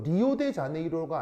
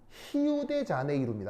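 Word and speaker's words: Rio de Janeiro: 리우 아니고 포르투갈어에서 R은 H 발음이 돼요.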